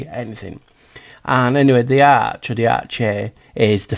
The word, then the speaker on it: arche: these elements was the arch or the ark. It's with an e. It's spelled a r c h e. So it's like ar.